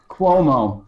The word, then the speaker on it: Cuomo: what let's start with now how do you pronounce this other than kuhmo Cuomo Governor Cuomo yep not the word I'm thinking